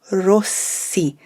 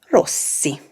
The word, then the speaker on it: Rossi: last name so sergio rossi it's a double s in rossi not a zed say it with me one more time sergio rossi a very well-known fashion